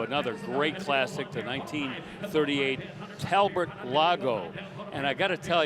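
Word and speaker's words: Talbot: great classic to 1938 Talbert Lago. And I gotta tell you, it's spelled T A L B O T, pronounced Talbert, like it's B E R T, if you can believe that.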